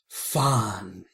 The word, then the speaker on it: Fandango: We won't discuss this angle until you pronounce his name right. Fandango.